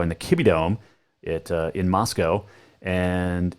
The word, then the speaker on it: Moscow: the Kibbie Dome in Moscow. And it is Moscow, Idaho, but Moscow, Russia. Remember that, okay? They're spelled the same, pronounced different. Moscow, Russia, Moscow, Idaho. It rhymes.